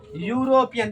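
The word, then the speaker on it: European: दूसरी बात यहाँ लिखा हुआ है यूरोपियन, क्या पढ़ेंगे, यूरोपियन। देखिए यहाँ लिखा हुआ उच्चारण है यूरोपियन है ना, यो ना आ गया, लेकिन शुरुआत देखिए भावेल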